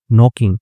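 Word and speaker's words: knock: Court में लिखा है हु इज नॉकिंग। ठीक है? तो नॉक जो होता है के साइलेंट होता है इसमें ये नॉक का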